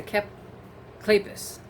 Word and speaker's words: Kleypas: Woodowis novel, and this one also features, let's see, Catherine Anderson, Loretta Chase, and Lisa Kleypas.